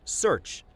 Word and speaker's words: Cearch: He calls it Search, spelled with a C.